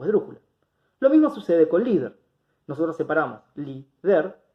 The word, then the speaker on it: líder: Siempre la tilde va a ir sobre la vocal y en la sílaba que determina si es aguda, grave o esdrújula. Lo mismo sucede con líder.